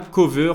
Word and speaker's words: Koveur: Je vous invite aussi à faire un tour sur mon média Cover, ça s'écrit K-O-V-E-U-R.